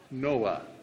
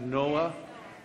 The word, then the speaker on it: Noah: come from Noah now I've been told I don't pronounce Noah properly and that I'm supposed to say Noah is that right Noah all right I'll try and learn but in England we say Noah and um some of